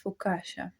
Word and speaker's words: focaccia: How pronounce this food? It's focaccia.